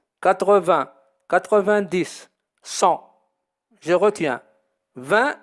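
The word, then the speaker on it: vingt: 20 s'écrit avec GT à la fin, qui ne se prononce pas.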